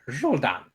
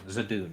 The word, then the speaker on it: Zadoon: The Dark Seer, Zul'Dan. Zoldot? the DM said it wrong. Zadoon is the guy's name.